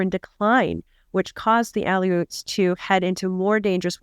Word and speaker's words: Aleuts: so were other Alaskan people such as the Aleuts.